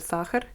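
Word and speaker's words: сахар: So I actually just heard the word sakhar, which is the Russian word for sugar. And it's spelled like S-A-Ch, and then another A, and then an R.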